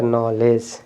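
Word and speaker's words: knowledge: silent हो जाएगा य नले और य डी साइलेंट है तो नॉलेज क्या हो जाएगा नॉलेज इसी तरह से देखिए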